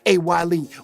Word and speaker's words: A. Y. Lee: And of course, you know, you got to tune in to my boy A.Y.space pronounced A-Y-Lee, on all your streaming sites.